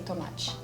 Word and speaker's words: tomate: It's just a very light ending. Yeah. There is an E, but like there is no accent and everything, so you just kind of not pronounce it. Yeah, the So E it's at just the end, tomate. right? Yeah. All the E's at the end of the word. You still have to say the T, but it's just tomate.